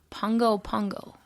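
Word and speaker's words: Pago Pago: capital of American Samoa, which is pronounced Pongo Pongo.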